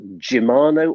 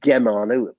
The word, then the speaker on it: Gemmano: by the positions that gemano or gemmano people pronounce it in two different ways here we are second